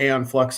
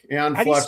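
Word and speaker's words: Æon Flux: So, back in 91, MTV Liquid Television um uh uh had a show called Aon Flux on. Yes, that's my pick. Aon Flux. Spell that.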